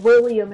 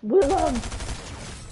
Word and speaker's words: Willem Dafoe: It's not William, it's Willem!